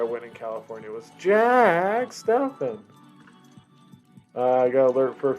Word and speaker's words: Steffen: The commercial's Stefano? No, it's Stefan. Steven? No, it's Stefan. Stefan? No, it's Stefan. Jack Stefan. And then I would always